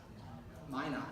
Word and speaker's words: Minot: This is for Mino Airport. I have no idea where it is, but that's what it is. There it is. Minot, is that how it's pronounced? Minot, okay, I can pronounce that.